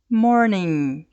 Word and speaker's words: morning: exemplo na palavra morning morning veja que eu não pronuncio o g e este n agora